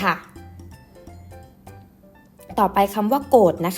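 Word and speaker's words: โกฏิ: ต่อ ไป คำ ว่า โกรธ นะ คะ อ่าน ว่า โกรธ อ่าน อีก ครั้ง นะ คะ โกรธ โกรธ คำ นี้ นะ คะ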